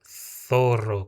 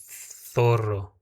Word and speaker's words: zorro: A palavra zorro eu vou ler zorro, como com a língua presa, ó, zorro, tá?